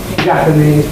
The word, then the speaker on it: Japanese: don't say jaese people we say Japanese people there are several Japanese students and you can hear this apparent shift of the greatest problems onto the first syllable the S now this